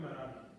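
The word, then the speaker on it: Mehrabian: Marabi.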